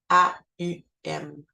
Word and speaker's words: Aum: Le chakra coronal qui, lui, va être le Om, mais A-U-M, Aum, qui se prononce un peu différemment.